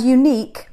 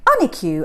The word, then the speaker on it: unique: just can't help it she often pronounces picturesque picture skew and unique an EQ and it is amazing